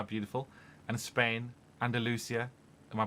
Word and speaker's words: Andalusia: You own recording studio facilities in the UK, Shropshire, how beautiful, and Spain, Andalusia. Am I pronouncing it correctly? Yeah, Andalusia, yeah.